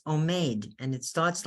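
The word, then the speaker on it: עומד: It's omed, and it starts like that with an ayin and a vav. And a mem and a dal, omed, standing.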